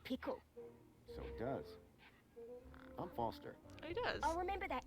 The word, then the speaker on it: Foster: so it does i'm foster he does i'll remember that easy because your name rhymes with fossil and you're old thanks